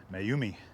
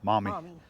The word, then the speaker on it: Maumee: that we were in i was thinking that it was maybe pronounced mayumi or moomi or something like that and abby looked it up and i guess it's pronounced mommy mommy m-a-w-n-e-e so we are in